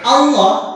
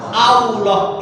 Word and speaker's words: Allah: tetap kebiasaan dari kecil Allah itu keliru harusnya Allah Al bukan w tapi kalau W itu keliru jadi kalau kita nulis